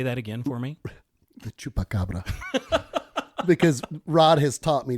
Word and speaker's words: Chupacabra: The Chupacabra. Because Rod has taught me to speak Spanish and corrects me if I say it wrong. Because I was like, the Chupacabra? And he's like, no, the Chupacabra.